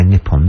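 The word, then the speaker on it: Nippon: suin talta is nion we used to say nipon didn't we South Korea is good it's Han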